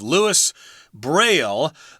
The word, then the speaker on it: Louis Braille: we're speaking English here we're gonna stick to the English pronunciation of Louis Braille whenever you heard the